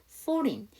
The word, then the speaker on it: foreign: IGN이면 뭐가 묵음이다? G가 묵음이지. 그래서 foreign.